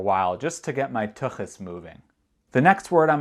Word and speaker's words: tuchus: or about my parents but the word is tuchus tuchus and you pronounce that with sound which is in Hebrew